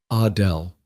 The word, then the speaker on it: Adele: She pronounced it the French way. Adele.